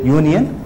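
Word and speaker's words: union: umbrella அ இது என்னது யூனியன் யூ என்று உச்சரிக்கப்படுகிறது இது உயிரெழுத்து அல்ல அதனால் ஏ போடுகிறோம் உயிரெழுத்தாக இருந்தால்தான் ஆன் வரும்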